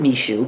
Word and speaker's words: Michaud: You can go check that out on his channel, Derek Michaud, although he pronounces it Michaud because we're weird like that. We don't even say our last names the same.